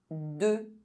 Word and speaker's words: deux: EU is pronounced E if followed by a silent consonant at the end of a word. De.